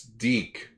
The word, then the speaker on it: Deke: what's a dick oh oh it's deke we all pronounce it dick at one point so there was a